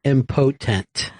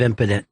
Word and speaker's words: impotent: And then one time I read impotent instead of impotent.